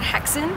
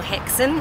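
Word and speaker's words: Häxan: that's in the works right now it's called haxon or hexane if you pronounce it right and uh it means witches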